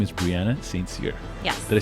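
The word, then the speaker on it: St Cyr: special guest and um her name is brianna sainzir yeah did i say that properly you did yes i know it's hard to pronounce a lot of people get it wrong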